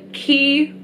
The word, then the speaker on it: Quay: miss lemon you know I now know how to pronounce it key but I've always called it Quay because dude that's not how you spell key but then again it's